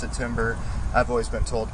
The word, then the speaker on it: timbre: It's spelled timbre. I've heard people pronounce it timbre.